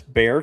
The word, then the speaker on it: Bexar: Um So that's Bear County. You're you don't pronounce the X. Just Bear County.